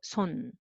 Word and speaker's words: 손: Okay, so 부 plus a, 바, and m underneath 밤, and s plus o, 소, and n underneath 손.